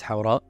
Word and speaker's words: Hawra: Hawra?